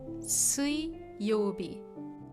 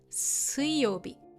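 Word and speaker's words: 水曜日: The reading changes and mizu or sui is pronounced sui, not mizu in this case.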